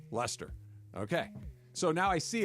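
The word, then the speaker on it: Leicester: I was laughing at you like having to pause before you said Leester. See? Well, it's got an I in it. How was you going to say Lester?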